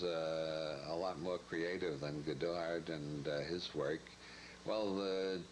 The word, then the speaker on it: Goddard: Since Goddard was an American, it would be pronounced Goddard, wouldn't it?